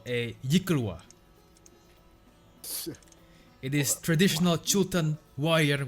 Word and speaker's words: yklwa: She beckons that servant to come forward and says, "This is called a yikulwa.